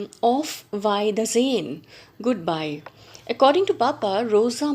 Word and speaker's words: Auf Wiedersehen: She answers back, and look at this word, how it is to be pronounced. She says, "Auf Wiedersehen, goodbye."